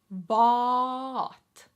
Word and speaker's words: vaa'at: For example, vaaka is a special word in which the plural form is vaa'at. 3 A's in a row. Vaa'at. Vaa'at. Vaa'at. How do you go about pronouncing this? Vaa'at. Remember the vu.